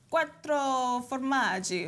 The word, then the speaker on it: quattro formaggi: And we're making a 4 cheeses on the show today, but in real Italian, you say it like a... Quattro formaggi, or bene quattro formaggi.